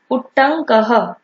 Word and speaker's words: उट्टंकः: उट्टंकः, यहाँ पे हम इसका ड प्रोनाउंसिएशन नहीं करेंगे, डबल ट एंड देन अंग।